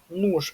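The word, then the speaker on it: nóż: Нуж - это нож. И вот опять же, да, ещё один пример. Нож по-русски, ниж по-украински, нуж с такой вот чёрточкой у по-польски.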